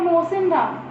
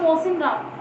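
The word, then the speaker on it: Mawsynram: आपका मेघालय है, ठीक है, मेघालय में आपका मोसिनराम, आपका एक जगह का नाम है मोसिनराम। क्या है जगह का नाम, मैं दोबारा से आपको बोलती हूँ, मोसिनराम। आपकी स्पेलिंग देख लीजिए आप।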